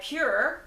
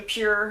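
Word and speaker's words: PÜR: the movie palette by pure I believe that supreme pronunciation pure not pur but that is just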